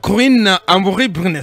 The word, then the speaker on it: Corinne Amoury-Brunet: Corinne Amoury-Brunet. Je ne sais pas si je prononce bien votre nom. C'est très bien.